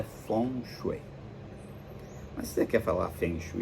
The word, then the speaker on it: Feng Shui: de falar dos animais a pronúncia certa é four muita gente fala Feng Shui mas é funcho Mas você quer falar